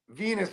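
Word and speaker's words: Venis: Venus rhymes with penis.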